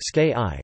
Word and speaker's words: Sikhi: Sikhism, Punjabi, Sikhi or Sikhi Sikhi, pronounced ske-i, from Sikh, meaning a